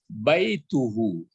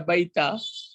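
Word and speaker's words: بَيْتُهُ: Memang kalau Balkis betul membaca baituhu. Jangan dibaca baita. Ya, yang dibaca adalah baitu. Baitu, barisnya baris depan ya.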